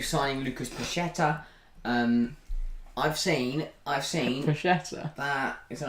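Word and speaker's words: Paquetá: I've seen Paqueta. that... Is that how you say it? It's Paqueta.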